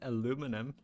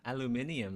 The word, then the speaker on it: aluminium: time they're like oh you pronounce it aluminum why not aluminium like it's supposed to you stupid American they